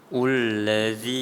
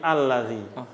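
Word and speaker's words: الذي: Ullazi. Bukan. Itu belum. Nanti belum. Ini ada ilmunya nih. Itu bacanya bukan ullazi tapi allazi. Ada tulisan itu bukan dhammah.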